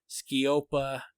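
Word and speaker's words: sceopa: and listened to the words i was using skiopa chaos it's spelled uh ski op is spelled s-c-e-o-p ski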